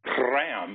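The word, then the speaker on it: PRRAM: r r a m when they pronounce it pram it's wonderful I know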